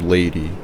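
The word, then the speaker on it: Leidi: The woman from the airline who helped me was named Lady, spelled phonetically as L E I D I in Brazilian Portuguese.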